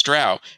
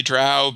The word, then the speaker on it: Drow: I think it was usually Drow, but it's hard to say. I'm somewhat of a language chameleon, and so if someone said Drow long enough after I'd said Drow, I probably would have changed it over.